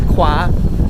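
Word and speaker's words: ขวา: One good way to remember how do you say kwa is you remember frogs. So kwa, kwa, kwa. So liu kwa. Yes. So liu sai turn left, liu kwa turn right.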